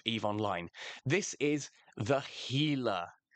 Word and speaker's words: Gila: This is the Gila, not the Gila, Gila. I know it's spelt with a G, but that G is pronounced as an H.